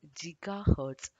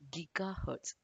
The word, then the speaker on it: gigahertz: i found out that the metric giga can be pronounced either in two ways and in this this